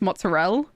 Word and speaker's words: mozzarella: Like someone tried to tell me that mozzarella was pronounced mozzarella. And I'm sitting there like, no, Italian is phonetically spelled. It's phonetic. You pronounce everything. It's mozzarella. Mozzarella.